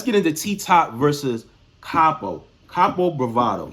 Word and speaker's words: Kapo Bravado: Kapo Bravado. Yes, I said it right. Kapo Bravado, not Bravado.